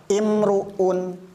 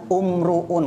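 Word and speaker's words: امرؤ: Arab biasanya dibaca ismuhu yang ketiga imruun orang Arab biasanya membaca itu bukan dibaca umruun karena huruf ketiganya u dibaca umruun tidak tapi karena orang Arab biasa ngomong tiga kalimat ini menggunakan kasrah maka ini pun sama diharakati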